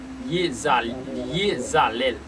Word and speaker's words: Iezalel: Sans plus tarder, n'a pas entré dans le dernier génie pour mardi 16 juin, mardi 16 juin 2023, qui c'est Yezalel qui s'écrit I-E-Z-A-L-E-L Lycéon Chérubin.